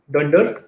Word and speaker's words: dunder: The way you would pronounce this is you would say Dunder name.